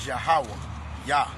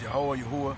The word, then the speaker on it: YAHAWAH: And the Most High name is YAHAWAH. YAHAWAH. YAHAWAH, right? Some people pronounce Yahuwah, but it's YAHAWAH, right?